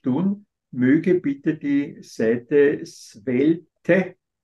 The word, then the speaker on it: Svelte: möge bitte die Seite swelte es wird so mit swelt ausgesprochen aber schreiben m mit